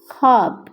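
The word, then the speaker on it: خواب: हैं ख आ ब खब खब वा साइलेंट होगा तो खाब बब ऐसे पढ़ा जाएगा लिखा ऐसे जाएगा शुरू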